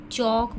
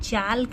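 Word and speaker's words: chalk: इसको हम चौक पढ़ते हैं। चाल्क नहीं पढ़ते इसलिए इसको सर्कल करेंगे।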